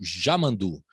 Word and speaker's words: Yamandu: Porque o pessoal lá É uma questão de pronúncia. É só uma questão, porque o Y lá na fronteira, né, com o Uruguai, as pessoas chamam de Já, né?